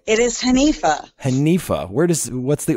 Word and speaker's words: Hanifa: how do you say your name it is hanifa Hanifah where does what's the origin for that